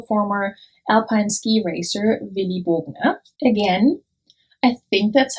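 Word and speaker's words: Bogner: alpine ski racer willie bogna again i think that's how it's pronounced i've heard people call this brand monye which i don't think is right because as far as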